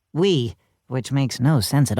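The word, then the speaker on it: oui: But it's pronounced we, which makes no sense at all.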